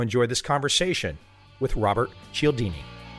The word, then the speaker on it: Cialdini: It used to be all forms of what it is. It's Cialdini now, and most people seem to be able to articulate it right off the bat.